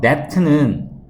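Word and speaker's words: debt: 그 that라는 단어는 이 B 발음이 안 나요. that는 빚이라고 쓰는 단어인데, 가난한 국가의 빚을 줄여야겠다라는 것에 뭔가 합의점들이 있어 왔다.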